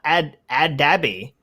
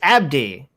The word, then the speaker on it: Abdi: It's not Adabi. It's Abdi.